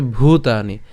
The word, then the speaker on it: ভূতানি: ঠিক আছে এরপর ভূতানি এটা অনেকে উচ্চারণ ভূতানি বলে ফেলেন তো এখানে যেহেতু ভ আছে ভ এর উচ্চারণটা আর ব এর উচ্চারণের মধ্যে কিন্তু পার্থক্য আছে যদি ব থাকতো তখন সেক্ষেত্রে আমরা ভূতানি বলতাম বাট যেহেতু এখানে ভ আছে তাহলে তার উচ্চারণটা একটু অবশ্যই জোর দিয়ে উচ্চারণ করাটাই আবশ্যক তাহলে তার উচ্চারণ কেমন হবে ভূতানি এরপর বিয়ম এখন কেন